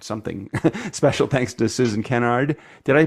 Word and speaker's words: Kennard: Special thanks to Susan Kennard. Did I pronounce it right? I know I always said Kennard, but it's the wrong emphasis on the wrong syllable. It's Kennard, correct? So it's Kennard.